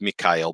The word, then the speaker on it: Michael: the sacred fire of Michael spear to a light now this ceremony may Michael spear if you want to say it correctly it's me Kyle but I'm just gonna say it Michael for y'all because then you'll wonder